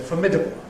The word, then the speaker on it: formidable: And the red line is formidable giving way to .